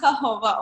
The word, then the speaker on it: jojoba: you want to focus on but it's actually pronounced jojoba oil it's my favorite facial oil and i